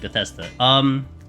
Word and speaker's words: Bethesda: Yeah, that's how you say it, Bethesda.